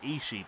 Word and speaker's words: Ishii: nope tomohiro is she i just called him ishii but apparently when he was at aw they they pronounced the eye at the beginning twice so she takes on